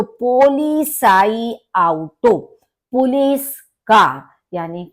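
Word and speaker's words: Polizeiauto: पोली साई आउटो पोली देखिए थोड़ा सा हम इसको पार्ट्स में डिवाइड करके जिससे सरलता से हम बोल सके पोली साई आउटो क्योंकि जड का प्रोनंसिएशन सा की तरह से होता है और ई आई मिलके आई होता है तो पोलि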